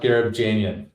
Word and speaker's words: Gharibjanian: go for it man it's pronounced gab Janan thanks for Jan yeah